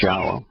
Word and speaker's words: Yahweh: No question that it's Yahweh. Yode, wah. Four vowels, all easily pronounced based upon the thousands of words they appear on in the Hebrew language.